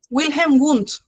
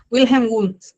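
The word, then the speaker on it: Wilhelm Wundt: Wilh Wilhelm Wund, así se pronuncia Wilhelm Wund.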